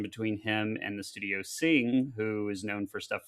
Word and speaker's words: Cing: And then this was a collaboration between him and the studio Sing, who is known for stuff like Hotel Dusk and Trace Memory.